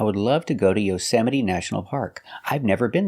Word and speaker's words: Yosemite: The E at the end is pronounced with a long E, like green beans.